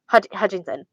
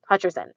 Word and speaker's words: Hutcherson: Michael Athen would not look like Josh Josh Hutcherson Hutchinson Hutcherson.